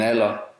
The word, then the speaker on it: alder: D is also not pronounced after L or N or before T or S. For example, En alder.